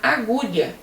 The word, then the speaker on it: agulha: É diferente de você falar agulha. Agulha você usa a letra U, você ouve a letra U.